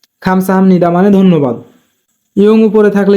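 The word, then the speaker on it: 감사합니다: থাকার কারণে বিউপের উচ্চারণ নিয়মের মত হবে তাই উচ্চারণ হবে খামসা হামনি খামসা হামনি মানে ধন্যবাদ ইয়ং উপরে থাকলে ইয়ং এর উচ্চারণ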